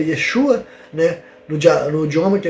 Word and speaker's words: Yeshua: O primeiro nome que aparece, se eu não me engano, é Yesu, que supostamente a pronúncia do nome de Cristo na época era Yeshua, né?